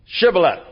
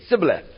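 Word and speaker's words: Shibboleth: And the guys from Ephraim couldn't pronounce the sh sound and they'd say cibth and they knew that they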